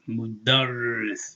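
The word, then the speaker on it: مدرّس: So when you come here with this with the ra, you already see that there's a kasra coming. So you drop down, you're going to say ris, mudarris, okay?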